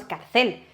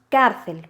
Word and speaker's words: cárcel: Al hacer el golpe de voz no decimos carcel, decimos cárcel.